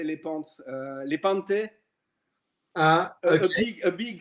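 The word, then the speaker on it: Lepanto: Lepante.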